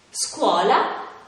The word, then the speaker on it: scuola: sciatore scena e fish quando invece sono seguite da le altre vocali oppure dalla lettera h si pronunciano in modo più duro ad esempio scatola scoiattolo scuola schermo beh per ora